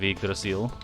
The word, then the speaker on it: Yggdrasil: chat who are wondering why i'm saying you draw seal instead of yggdrasil it's because that's the way the game pronounces it it pains me to say you draw seal instead of igrasil just as much as